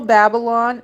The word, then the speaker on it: Babylon: Well, did you know Babylon actually is Babylon? It's spelled B A B Y L O N. So baby is in there.